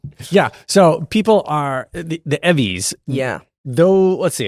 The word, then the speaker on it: EVVYs: EVVYs? Yeah. That's how you say it. It's All like right. the- it's like the Yeah. Emmys.